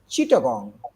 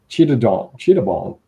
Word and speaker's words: Chittagong: Apparently, how do you pronounce it? Chittagong. Chittagong.